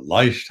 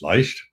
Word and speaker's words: Leicht: And some of you have maybe heard of Wayne and Donna Leicht, or Leicht, however you want to pronounce it. In German, it's Leicht.